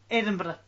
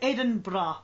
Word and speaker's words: Edinburgh: I was looking at pictures of, how do you pronounce it? Edinburgh? Edi- Edinburgh? Edinburgh. Yeah, Ed- it's like Edinburgh.